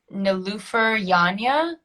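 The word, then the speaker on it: Nilüfer Yanya: can never i i'm not entirely sure um how to pronounce her name but it's no loofer yanya who does the florist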